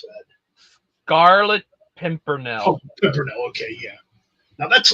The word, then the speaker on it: Scarlet Pimpernel: How the do you pronounce that? Scarlet Pimpernel.